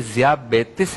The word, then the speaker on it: ज़ियाबितीस: असल प्रोनाउंसिएशन क्या है इसकी प्रोनाउंसिएशन किताब हिकमत के अंदर जो है वो ज़ियाबितीस है।